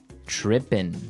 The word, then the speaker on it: trippin': As you notice, it's trippin'. It doesn't have the G at the end, which isn't really grammatically correct, but that's kind of the way it's pronounced. Yeah, we would never say the G.